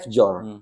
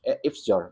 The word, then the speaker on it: fjord: Orang yang tidak tahu apa itu F-jor, tulisannya F-jor, tapi bacanya F-jor gitu.